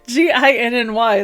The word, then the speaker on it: Ginny: It's Ginny or Ginny. Ginny. J-G. Oh, okay, yeah, good. J. Yeah, G-I-N-N-Y. That's Ginny, I promise. Yeah, because like Ginny also would get new stuff.